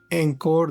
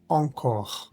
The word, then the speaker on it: encore: Palabra que tiene vocal nasal e n no es encor ni ancor, sino o o ancor ancor.